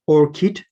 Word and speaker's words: ORCID: of open research and contributor id pronounced or kit so these orchid ids